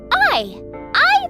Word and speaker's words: AI: whoa hey I some new files oh it's pronounced I I the somnium files I'll be playing on the